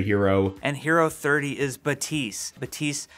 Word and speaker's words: Baptiste: According to Michael Chu, Baptiste pronounces the P.